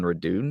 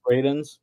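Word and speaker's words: Radunz: his name from Tennessee Dylan redun is that how you say his name redun Raiden Raiden yeah he's only 26 I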